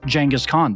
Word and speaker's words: Genghis Khan: You can learn about Genghis Khan or Genghis Khan, depending on your pronunciation.